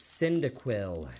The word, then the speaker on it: Cyndaquil: My gosh, I can't even pronounce it. And non-holo. It's Cyndaquil.